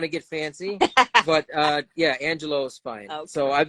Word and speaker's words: Angelo: want to get fancy, but yeah, Angelo is fine.